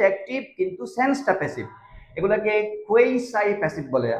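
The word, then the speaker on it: quasi: আমরা ছোটবেলায় কোয়াজি passive পড়েছি, আপনারাও হয়তো মিসগাইডেড হবেন শুনে। কোয়াজি প্যাসিভ, কোয়াজি প্যাসিভ এরকম বলতাম আমরা। অ্যাকচুয়ালি কোয়াজি বলতে কোনো ধরনের উচ্চারণ নেই ইংরেজিতে, এটা কোয়েসাই বলে।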